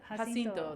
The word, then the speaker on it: Jacinto: Jacinto, that's how you say it.